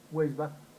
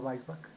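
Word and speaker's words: Weisbach: en español yo he escuchado mucho que dicen huelva no vuelvas si no vais back que hice en el idioma alemán entonces tenemos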